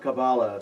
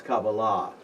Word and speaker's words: Kabbalah: thing by the way any word in Hebrew ending in a H the accent is on the last syllable okay it's not Kabbalah Kabalah what I'm going to